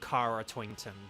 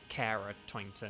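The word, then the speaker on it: Kara Tointon: traditionally and culturally that's how that name is pronounced like like there's an actress called Cara twinton not carara twinton and stuff like that okay dread is a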